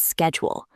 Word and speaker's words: schedule: In American English, we say schedule. And in British English, they often say schedule. Both are correct. We use the American way, schedule, but you will hear both.